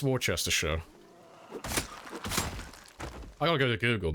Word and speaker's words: Worcestershire: I think it's when they pronounce the end of Shire. I think that's most of them. Worcester. It's Worcestershire.